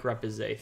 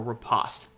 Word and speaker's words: Riposte: going to be Quick Repoussé 3, or Riposte 3. I've heard it pronounced both different ways.